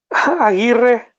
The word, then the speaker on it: Aguirre: I can't make the I and the R at the top because you have to have your tongue at the very top of your mouth. And I just for whatever that is, I can't do it.